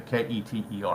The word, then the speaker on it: Keter: K-E-T-E-R. I said Keter.